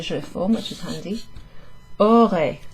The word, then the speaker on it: aurait: Aurait, like the word aura. In fact, that would be the third person singular, aura.